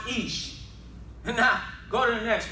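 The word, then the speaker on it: אִישׁ: It's pronounced Ish.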